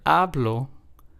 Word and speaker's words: hablo: In the word hablo, we are stressing the second to last syllable. So in this word, since there's only two syllables, this would be the first syllable.